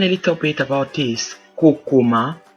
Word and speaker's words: kokoma: The next word is Kokoma, Kokoma, or Kokoma, Kokoma. So we have the same spelling, different pronunciation and different meaning.